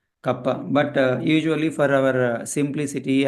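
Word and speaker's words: kappa: It should be pronounced as kapa. It's a Greek letter kapa.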